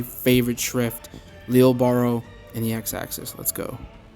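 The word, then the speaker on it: Lille Barro: I know there's a bit of debate going on right now about how to say Lille Baro's name. It actually is pronounced Lille Baro, but for my own sanity, I'm going to say Lille Baro.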